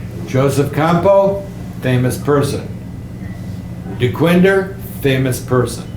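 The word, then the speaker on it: Campau: It should actually be Campo. Campo. But people say Joseph Campo, Joseph Campo, Campo A-U on the end.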